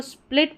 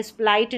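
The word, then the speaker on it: split: इसको स्प्लिट पढ़ेंगे। स्प्लाइट नहीं पढ़ेंगे।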